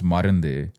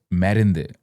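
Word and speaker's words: மருந்து: But the way you would pronounce Marundu is Merundu.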